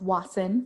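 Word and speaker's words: WAESN: washington ethnic studies now we call ourselves watson for short especially if you didn't know how you would pronounce w-a-e-s-n it's lawson and we are a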